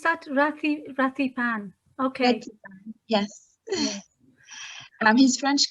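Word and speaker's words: Rithy Panh: And How do through you pronounce that? Rathipan.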